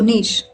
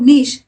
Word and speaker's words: niche: You could either pronounce it as niche, which rhymes with ditch, or you could say niche, that rhymes with leash.